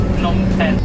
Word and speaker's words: Phnom Penh: Pronunciation is Phnom Penh or Phnom Penh.